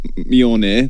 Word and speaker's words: Mjölnir: gold didn't want to Steven Knight hello it's pronounced me on there Mjolnir on beyond now as Steven you were you